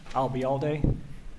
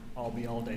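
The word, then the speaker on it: Ayalde: was that you uh remember the phrase I'll be here all day and drop it here I'll be all day you got it and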